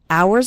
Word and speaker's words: hours: spend hours and hours remember the H in the word hours is silent so don't pronounce it at all hours and hours and the